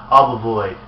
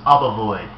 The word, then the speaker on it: Obovoid: This is called Obovoid or Obovoid. I've heard both pronunciations, but this is Obovoid.